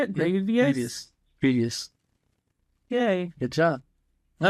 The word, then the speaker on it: Grievous: Grievous.